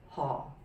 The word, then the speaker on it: Ho: um next one is ho in english and cantonese is pronounced as hall the low falling hall and oh i could